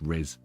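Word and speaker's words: rizz: to have Charisma it's RZ is like you've got Charisma it just yeah it's just it's just it's just that middle syllable of Charisma it's just res so it's just like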